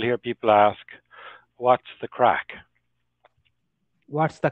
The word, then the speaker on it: craic: so it sounds it's it's pronunciation is identical to this English word crack oh and people would